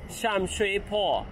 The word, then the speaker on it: Sham Shui Po: Ví dụ, cái bạn thấy ở đây là "Shen Shui Bu". Tôi có thể đọc cái này , nhưng nó được đọc là "Sham Shui Po" trong tiếng Trung Quốc, tức là tiếng Quảng Đông, và tôi gặp vấn đề vì nó có cách phát âm khác nhau, các bạn ạ.